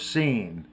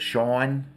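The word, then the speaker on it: San: to go by was scene uh some people pronounced it Shan it was s a n i always pronounced it scen uh but most people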